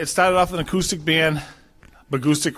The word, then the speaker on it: Bahgoostyx: off an acoustic band agoustic rhymes with acoustics and we stuck with